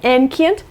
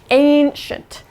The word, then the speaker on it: ancient: it looks like you it kind of looks like it would be ancient that's not right it's ancient yeah i know english pronunciation